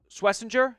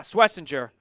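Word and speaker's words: Schwesinger: Swissinger. Yeah, Swissinger followed by Jaden Higgins.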